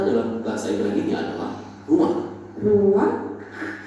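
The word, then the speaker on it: רוּחַ: Ruah. Iya, benar. Tenggorokan kita harus benar-benar bersih di akhir pengucapan.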